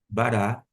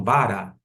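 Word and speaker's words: בָּרָא: Eu não falo bara. E sim, bará. Porque eu sei que a sílaba tônica, eu não preciso olhar, identificar, mas eu sei que a sílaba tônica está no reche que e embaixo nós temos o câms.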